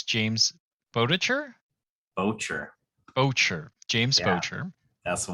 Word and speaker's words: Boettcher: we have I think I'm gonna get your last name wrong. It's James Boettcher? Boettcher.